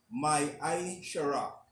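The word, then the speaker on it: מעשר: Means tenth in Hebrew and is pronounced my shara.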